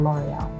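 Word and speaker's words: L'Oréal: Dove is clearly differentiated itself from other popular cosmetic brands like Nivea or L’Oréal.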